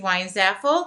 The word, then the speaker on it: Weinzapfel: studio I am why is FL the P is silent um I want to